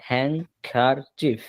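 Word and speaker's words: handkerchief: Hand এইযে শেষে ডি আছে না? হ্যান্ড এইচ এন্ডি উচ্চারণ দরকার নাই। ডি উচ্চারণবাদ। হ্যাংকার চিফ হ্যাংকার ডার্চিফ dirty রুমালটি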